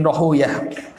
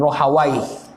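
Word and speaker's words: Rahawayh: itu Ishaq bin rohiyah bisa dibaca Dua Ya sebagian membacanya Ishaq bin rahawaih takbir ohw sebagian membenci untuk menyebut roh away karena way karena mereka ini nama syaiton sehingga mereka membacanya dengan Ishak Bin rohiyah Ishaq bin khuzaimah ini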